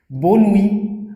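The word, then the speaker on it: bonne nuit: आबियांतो, बोनुई, अब बो नुई, ये टी लास्ट में रीड नहीं होगा, बोनुई, ठीक है।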